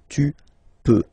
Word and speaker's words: peux: Then tu peux, same pronunciation and same spelling or writing, okay, P-E-U-X, okay, you don't pronounce the final X, tu peux, okay, je peux, tu peut.